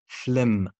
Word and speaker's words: phlegm: في نهاية الكلمة لا برضو حرف الجي بيكون silent letter زي diaphragm paradigm phlegm ولكن حرف الجي ده موجود نهائي طيب بالنسبة